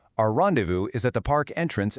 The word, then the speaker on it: rendezvous: The pronunciation is rendezvous.